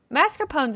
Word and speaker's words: mascarpone: Mascarpone's a thing.